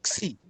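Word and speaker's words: ξ: Xi.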